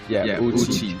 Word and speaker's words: Uchi: But it goes like Uchi, I guess. Uchi. Uchi is how it's pronounced.